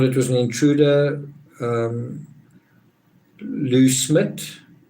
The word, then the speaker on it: Smit: was an intruder lou smith a lot of people spell it like schmidt or something it's smit um he was smart but it was 1996.